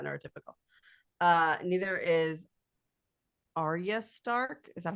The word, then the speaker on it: Arya: Neither is Arya Stark. Is that how you say it? Oh yeah, no, yeah, Arya Stark.